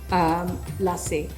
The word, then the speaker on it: lassi: called mango lasse now a lot of people pronounce it lassie or la si but it is basically lassi okay so l-a-s-s you